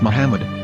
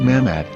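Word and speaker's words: מחמד: According to Ben Yehuda's Hebrew English dictionary, it is correctly pronounced as Muhammad, not Mammad.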